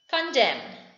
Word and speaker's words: condemn: Condemn. N is coming with M towards the end of the word. So N is silent.